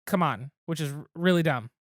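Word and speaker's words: CMON: changed their name to, it's officially pronounced Come On, which is really dumb.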